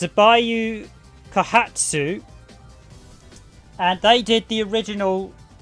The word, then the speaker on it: Seibu Kaihatsu: originally done by let's see if i can pronounce this correctly it's a bayou kahatsu and they did the original two raiding games